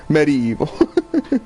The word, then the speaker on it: medieval: part, but he's like, you gotta pronounce the I. Medieval.